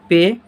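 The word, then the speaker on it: پ: इसे हम लोग क्या बोलते हैं, पे। और इसका उच्चारण हो जाएगा पा।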